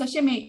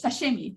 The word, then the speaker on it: sashimi: When I talk about sushi, for example, but then another word like sashimi, I pronounce sashimi in a very much anglicized way.